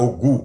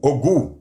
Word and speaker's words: Ogou: tombez sur 2, cette personne est associée à Ogu, Ogu, qui s'écrit O-G-O-U, qui est un orisha dans la tradition du peuple noir, qui est associé au fer et au feu.